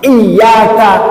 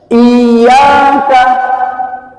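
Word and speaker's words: إِيَّاكَ: dikabulkan bacaannya saja salah Jadi ini penekanannya kalau dibaca iyaka ada juga kadang-kadang ynya itu terlalu dipanjangkan kayak gini bacanya I kelebihan itu panjangnya cuman dua ketuk i naudu i n kalau dipanjangkan misalnya sampai tiga ketuk apalagi empatnya salah iak enak diuping gak enak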